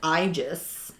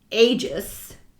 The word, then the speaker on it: Aegis: I remembered it from mythology in Latin it's pronounced igis and today it's pronounced Aegis or Aegis but in Latin AE is i